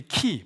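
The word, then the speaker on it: χ: 이게 x 키 이게 헬라어로 X인데 키 발음이 키예요.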